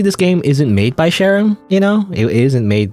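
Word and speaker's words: Charon: do you spell it c h a r o n right that's how you spell Sharon it's like the the Greek you know the Greek mythology you know Sharon like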